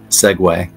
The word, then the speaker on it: segue: them both together but it's not a seu it's segue segue segue and that's what I